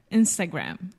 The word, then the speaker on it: Instagram: insta instant Instagram and in English we close a mouth when we say gram right mhm Instagram what I love you so much is that wrong that was perfect okay absolutely perfect the happiest moment in a teacher's life is when the student becomes the teacher yes close your mouth with the final M and there is no sh just Instagram Instagram excellent and Facebook ah